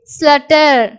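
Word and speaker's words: slaughter: அதே மாதிரி ஸ்லட்டர்.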